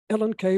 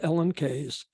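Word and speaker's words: Ellen Key: by the Swedish feminist Ellen K last name spelled k-e-y but it's pronounced k the book was probably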